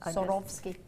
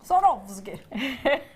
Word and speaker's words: Swarovski: It always confuses when there's a W there. It takes about half an hour to say. Pretend it's not there. You're sawing off your skis. Sorovski. Ah, okay. Sorovski.